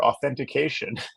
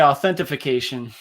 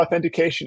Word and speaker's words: authentication: it's a tough one it's almost as bad as multiactor authentication I hear a lot of people say authentification oh yeah oh yeah